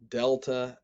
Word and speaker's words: delta: english as in gone delta sounds like the d in english and the epsilon sounds